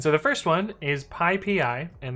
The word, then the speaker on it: PyPI: the first one is pi pi and the reason that it's pi PI is it is the Python package index and this is pi